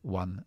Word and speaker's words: won: Por ejemplo, she won a car. Recuerda que win en pasado, muy fácil en presente, en pasado se pronuncia exactamente igual que el número uno.